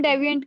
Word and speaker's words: deviant: डिविएंट है. डिविएंट है. ई वाली प्रोनाउंसिएशन नहीं है, आई वाली है.